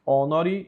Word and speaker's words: honori: Sanguis Christi omni gloriam et honori. Esse H ele é mudo, tá?